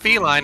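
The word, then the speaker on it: Felyne: I think it's pronounced feline if it's F E L Y N E.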